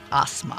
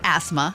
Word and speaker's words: Asma: And I want to hear more from you in our next segment, Asma. Asma? It's not asthma. It's not asthma. It's not asthma. Asthma. Say it right.